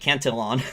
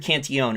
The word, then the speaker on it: Cantillon: is because of the canteeon effect um my friend george gavin he mispronounced he called it cantilon cantelon it's richard cantion um he actually had